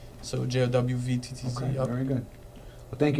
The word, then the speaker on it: Jowvttz: So Jowvttz.